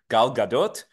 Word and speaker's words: Gal Gadot: beautiful Israeli Superstar actor Gal Gadot by the way the t is pronounced it's not French it's Hebrew Gal Gadot she played Wonder Woman